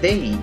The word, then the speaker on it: they: Ponemos la boca para decir una Z, pero realmente lo que decimos es una D.